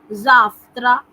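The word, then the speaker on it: завтра: एक जो common mistake student करते हैं वा का फा बनाना, जहाँ पढ़ा लिखा जाता है वा, पढ़ा जाता है फा। जाफ्त्रा, जाफ्त्रा, अफ्तोबूस, पढ़ने में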